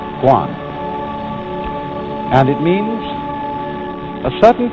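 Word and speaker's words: 觀: that means seeing and the whole character is pronounced Guan and it means a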